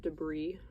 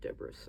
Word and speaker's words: debris: got debris in my paint I know it's pronounced debris but I like saying deis I think it's funny oh